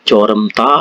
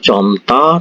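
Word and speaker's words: 젊다: Kata saremta ini bacanya samta, joremta itu dibaca comta, terus ini daremta dibaca tamta, seperti itu ya.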